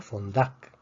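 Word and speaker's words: fondac: Esta palabra también termina en consonante que no es ni N ni S, por lo tanto se pronuncia fondak. Fuerza en la última sílaba.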